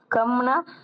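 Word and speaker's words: कम: உச்சரிக்கிறப்ப இச்ன்னு சொல்லணும் கம் கம்னா குறைவா இருக்கு குறைஞ்சிருக்கு அப்படின்னு சொன்னா கம் கா வும் மாவும் தான் எழுதி இருக்காங்க இது காணம் இது மானாதான் ஆனா இதுல ஆனா சவுண்டு சொல்லக்கூடாது கம் இப்ப ஒரு வார்த்தை உச்சரிக்கிறோம்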